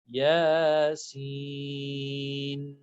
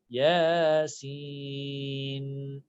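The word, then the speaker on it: يس: Yasin. Seen has an N at the end. All right. Yasin.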